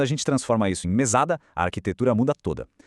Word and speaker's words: mesada: Mas quando a gente transforma isso em mesada, a arquitetura muda toda. A sílaba forte vira o sá, mesada.